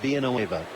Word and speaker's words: Villanueva: He said, no, I like the L's pronounced. And then people think that, well, maybe my name is Carlos Villanueva. He said, no, it's always been Villanueva.